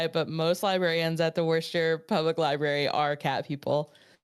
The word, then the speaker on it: Worcester: I think it's Worcester. I think it's Worcester. It's Worcester.